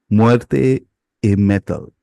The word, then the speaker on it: Muerte y Metal: And I actually looked up this pronunciation, so give me a second when I say it. Muerte y Metal, which actually is Spanish that translates to death and metal.